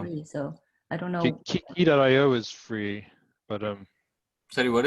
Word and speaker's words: Quay: That's the correct pronunciation. A lot of people Okay. say Quay. Yeah. okay. The word is key.